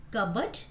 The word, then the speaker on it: cupboard: P is not pronounced in these words. P चा उच्चार या शब्दांमध्ये केला जात नाही. Cupboard, then pneumonia, psychology, coup, and psychiatrist.